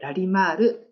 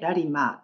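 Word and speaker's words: ラリマール: 日本では最後のルを発音しないでラリマーとだけ呼ばれます。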